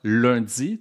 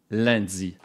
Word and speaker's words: lundi: en France comme in donc lundi prononce au Québec comme ça lundi tandis qu'en France on le prononce lundi si l'idée de te